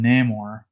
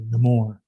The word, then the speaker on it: Namor: try to call him Namor, they kind of messed up the pronunciation of his name to Namor. They put like an accent over the O part.